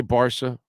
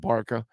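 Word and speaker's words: Barça: and and enjoy it we can say barsa or the way it's spelled you can call it barca anyway um so barsa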